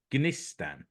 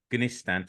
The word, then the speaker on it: Gnistan: Now, I've been informed that you pronounce the G, so it's Gnistan. There's no silent G's in Finnish, so Gnistan.